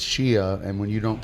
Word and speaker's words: Shea: up s HEA Shea Shea Stadium right but then he called her Shea and then she went it's Shia and when you don't